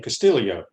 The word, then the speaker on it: Castillo: probably saw Ricky Castillo actually say his name castillio I think it JC would like to oh yeah because JC thought they pronounced it wrong yeah he he has some Filipino in his background or in his family and so that's why they do the Castillo yo at the end so um appreciate the